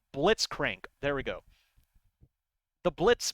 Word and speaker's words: Blitzcrank: Annie blitzcrank did I say his name right blitzcrank there we go the blitz boy I believe